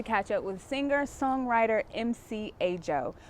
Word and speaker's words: Ajo: I'm Ajo, it's spelled A-J-O, and I'm a singer-songwriter, burgeoning MC, as I like to say.